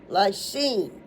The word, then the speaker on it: lysine: Lysine. L Y S I like ice. N like nature. E like Edward. Lysine. L Y S I N E.